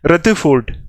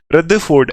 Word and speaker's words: Rutherford: जो मतलब बाहर वाली जो यूएस वाली जो प्रोनंसिएशन है ना उसमें आर साइलेंट है सिर्फ बाकी ऐसा है रदरफोर्ड उसमें मतलब रदरफोर्ड ऐसे करके आर नहीं बोलना लेकिन द बोलना है बीच में टी एच च द ही होता है ना रदरफोर्ड ऐसे रदरफोर्ड ऐसे करके